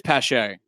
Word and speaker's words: Pache: No, it is Pache. All right, I pronounced it right.